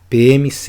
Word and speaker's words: PM-CE: e Segurança Pública focada na PM do Ceará PMs E é assim que se pronuncia show de bola então eu aqui montei